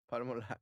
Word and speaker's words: Palmolive: Bloomer, Palmolive, Palmolive. which is soap. Mhm. Eh, Oh, like palm olive. Yeah. yes. Oh, it's palm olive. Yeah, Morning no? Boys, Like We would pronounce Palmolive.